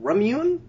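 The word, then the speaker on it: Ramune: just hear me out it's the drink is pronounced ramun and she mispronounces it hello hello it is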